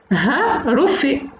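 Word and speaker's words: ha-rofe: que l'on peut prononcer d'après notre éminent historien Mohamed Hassin Fanter, Ha Rofi, sachant que Ha correspond en phénicien comme en hébreu à l'article défini le ou la.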